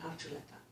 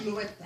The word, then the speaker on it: Archuleta: Archuleta is the actual Basque pronunciation Archuleta.